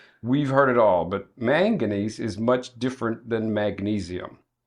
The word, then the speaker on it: manganese: It's called manganese. Manganese. Mhm. Okay. Manganesees. Also known now known by people that don't pronounce it very well.